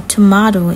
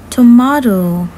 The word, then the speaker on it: tomato: turtle tortoise tree tea tomato or tomato is okay and that is the different pronunciation between us and uk train tom tractor teacher table thai toucan tiger turkey turtle tortoise tree tea tomato tree tom treader you